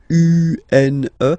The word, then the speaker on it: un: So if you listen to me, you don't hear any N, okay? So it's just a combination of the two.